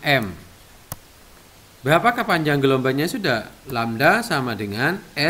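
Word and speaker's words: lambda: panjang gelombang ini simbolnya dengan kayak gini lamda bacanya lamda = S atau panjang tali panjang gelombang Hai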